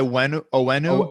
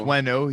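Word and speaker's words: Onwenu: You got this guy Owenu, but it's pronounced Wenu.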